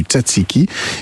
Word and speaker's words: tzatziki: En Iran, le mastokyar, qui est là aussi un dérivé du tzatziki. Et puis, bien sûr, en Grèce, sous le nom, vous l'avez dit, comment on prononce encore, Mathieu ?